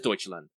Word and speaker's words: Deutschland: I'm going to mispronounce. What is it? Deutschland. It is Deutschland.